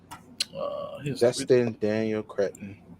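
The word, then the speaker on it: Destin Daniel Cretton: Joel, you pronounce his name. I'm not even going to try. Dustin Daniel Cretton.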